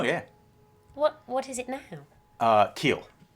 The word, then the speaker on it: Qil: Keel. Kill? Keel, yeah.